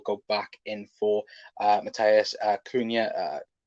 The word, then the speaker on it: Cunha: One thinks that if not this window, Liverpool will go back in for Matthias Cunha. I think that's how you say it, Cunha, in the summer to replace Bobby.